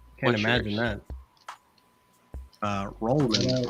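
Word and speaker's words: Rollman: time with my last name and it's too syllables can't imagine that uh rman r o l l m a n r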